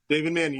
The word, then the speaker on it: Mannion: Did I pronounce that right? David. David Manion.